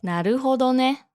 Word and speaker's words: なるほどね: So what's the pronunciation for that? なるほどね.